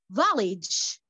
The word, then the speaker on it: village: Village. We pronounce the letter G between two vowels. We pronounce it J-J-J-J.